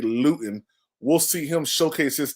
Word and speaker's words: Luton: believe that we see Jake Lutton or Luton I finally realized I was saying this name wrong so Jake lewton will see him showcase